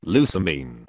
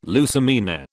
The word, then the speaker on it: Lusamine: You're saying it wrong. It's Lusamine. Not Lusamine.